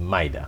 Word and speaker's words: Mayra: So we have with us Mayra, and it is said that Mayra is pronounced Mayda.